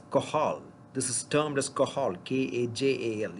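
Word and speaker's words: Cajal: cells are of qahal this is termed as qahal kaj al it's not not pronounced as kajam it is called interstitial cells of qahal so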